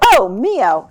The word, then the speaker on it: Ohmio: company omo and um I hope I'm pronouncing that right by the way is that the right way do you say it could you say it for me again Oho Oho okay so oh moo okay sounds a little